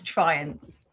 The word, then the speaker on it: Triance: It's Triance.